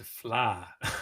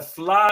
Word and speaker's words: Fleadh: or from overseas asking is how do you pronounce the word flaw so that's the language from the get-go established a flaw it's not just a festival but it's an